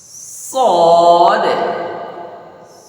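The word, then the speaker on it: صاد: ভিতরে আওয়াজ ছড়িয়ে যাবেশিন লক্ষ করেছেন এটা তারপর সদ সদের উচ্চারণের বেলায় একটু চাপ দিতে হবে তাসবিদের কিতাবে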